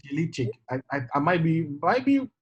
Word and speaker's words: Jelikic: Mario, yes, Mario I Yel, think it's Jelikic. I might be wrong, but I think it's the KIC is pronounced cheek. Cheek. Cheek. So pronounce it? Jelikic.